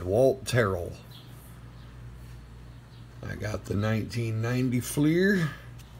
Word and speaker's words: Walt Terrell: And yes, that is how it's said, Walt Terrel.